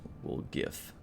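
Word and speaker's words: Woljif: wolf something will jif it's pronounced we'll gif hey horgus is here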